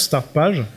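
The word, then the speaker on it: Startpage: euh donc ça c'est s'écrit comme ça se prononce start page c'est pour les pour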